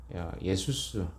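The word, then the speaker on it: Ἰησοῦς: 대하여 준다는 의미입니다 이것이 이제 신약으로 가면 헬라식 발음하면 예수스 이렇게 됩니다 바로 수와 같은 이름이 되는 것입니다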